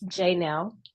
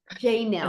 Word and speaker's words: Janelle: It's Janelle. Janelle. It's pronounced Beautiful Janelle. name. Yeah, emphasis on the J, or you can call me.